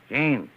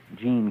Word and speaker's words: Jean: e a n and how do you pronounce that in english gene hey why do you